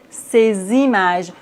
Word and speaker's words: ces images: nom comme par exemple ces images. Normalement, on ne prononce pas le S dans C, mais ici, on doit faire la liaison.